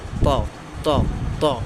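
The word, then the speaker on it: ط: ওকে, তারপর হচ্ছে ত ত ত। জিহ্বার আগা সামনের উপরের দুই দাঁতের গোড়ার হতে উচ্চারিত হয় ত। আমরা তার উচ্চারণ যেখান থেকে করছি এটা এখানে ত ত ত ত। এটা একটা মোটা হরফ, ঠিক আছে।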